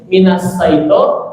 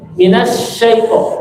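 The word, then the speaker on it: من الشيطان: Jadi jangan sampai bacaannya lembut seperti sin, minasaito, atau seperti shod, ya, minasaito. Bukan gitu. Tapi sin, minasyaito. Tapi enggak ada bibir yang monyong, minasyaiton, enggak gitu.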